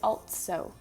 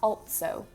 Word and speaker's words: also: The word also, they pronounce it altso. So like there's a T in there. And again, it's like a little stop, altso.